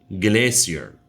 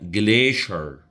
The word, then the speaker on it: glacier: لو أنا هنطقها British English, glacier. Glacier. American English يقولوها glacier. Glacier.